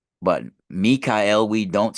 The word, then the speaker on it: Michael: Michael for our specific Mikael actually right we actually pronounced Michael wrong and this was this was given done to us deliberately so we lose the power of the word right it's actually Mikel saying Michael is like